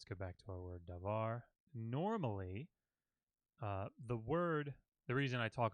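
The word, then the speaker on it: דבר: The accent will fall on the last syllable of a word. So davar, ivrit. So you can hear that in my voice. The accent where the stress falls on a syllable in a word is usually on the final syllable.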